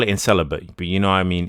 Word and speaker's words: incel: who doesn't know that in English for the most part C is a soft s sound not a not a k sound right all right um